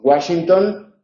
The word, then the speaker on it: Washington: Luego, la W tiene dos pronunciaciones, en las palabras de origen alemán como una B y en las palabras de origen inglés como el dígrafo gu. Entonces tenemos Washington y Wagner.